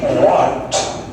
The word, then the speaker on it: worked: শি ওয়ার্কড, এটা উচ্চারণ করে দেখি। আরেকবার ট নয়, ট টি, হালকা টি, ওয়ার্কড, উচ্চারণ করে ওয়ার্কড।